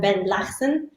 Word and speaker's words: Benlahsen: to pronounce your name well it's let's say it's the right european way to pronounce it tell us the real the real sound uh blessing so it's like a strong sounds coming from the third yeah exactly let's keep